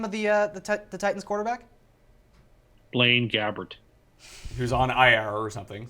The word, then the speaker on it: Blaine Gabbert: Now, maybe, Tim, how do you pronounce the name of the Titans quarterback? Blaine Gabbert.